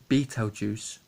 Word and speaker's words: Beetlejuice: crazy hair okay so here it is beetle Beetlejuice pronounced Beetle Juice like as the beetle is a